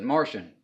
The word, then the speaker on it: Marcion: I actually saw some I say you pronounce it Martian okay but it's spelled Marcion and he was one